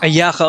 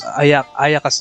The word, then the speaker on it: Ayaka: Ayaka. Oh, look at that. That's how they pronounce Ayaka's name.